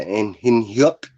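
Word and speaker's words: In-hyuk: Yeah, in Hyuk. You got to say it like that. In Hyuk. Like Goofy. In Hyuk.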